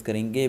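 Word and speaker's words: coup: सी ओ यू पी इसमें पी तो है लेकिन पी साइलेंट है सो इसे हम कुक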